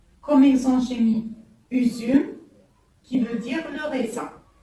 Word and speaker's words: üzüm: Il se prononce ici en langue turque U. Ça, c'est le U. U, comme exemple, j'ai mis üzüm, qui veut dire le raisin. U, üzüm.